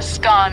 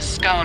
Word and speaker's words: scone: the pronunciation of scone both scone rhyming with gone and scone rhyming with bone are accepted pronunciations though Regional variations exist